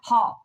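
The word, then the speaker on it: Van Gogh: of that and Vincent Van Hall that Hof not golf Hof Vincent Van Hall that is the way the Dutch pronounced his name now I know Vincent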